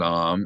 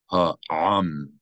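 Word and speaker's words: הָעָם: Eth ha'am. Not ham, or as many speakers of modern Hebrew would read, am. That's just like one long vowel, am. It's not am, it's ha'am. Clearly distinct two vowels.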